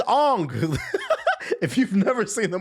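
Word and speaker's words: Aang: Nobody stopped to pull the show up and see that his name is pronounced Ang. They say it all. My name is Ang.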